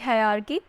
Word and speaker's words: hierarchy: हायरार्की नहीं पढ़ते इसको, हायरार्की पढ़ते हैं, ठीक है, HIERARCHY, हायरार्की।